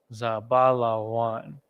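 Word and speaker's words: זבולון: falls into that category as well um zabalawan zabala one now we're gonna start building that word za ba la and then wa and then a na at the end zabala one foreign okay going over this again you know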